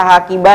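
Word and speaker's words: حقيبة: Asalnya dia tak marbutoh kan, hakibah. Nah, bacanya ini asalnya hakibah, bah. Nah, kalau udah ditambah kata ana, taknya ini, tak yang belakang ini, paling belakang nih berubah. Enggak dibaca hakibah ha lagi, dia dibacanya apa? Ti.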